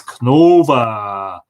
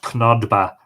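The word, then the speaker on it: Cnodba: an episode on, is Cnova. In this case, spelled C-N-O-F-A-D-B-A. But of course, because of lenition, would be pronounced Cnova, not Knodba or Knodba, as you might read it.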